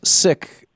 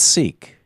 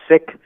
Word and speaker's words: Sikh: It's Sikh, not Sikh. That's right. It's Sikh. The K and the H are kind of aspirated.